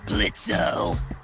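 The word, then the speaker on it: Blitzø: Uh-huh, sure, Blitzo. The O is silent now, bitch.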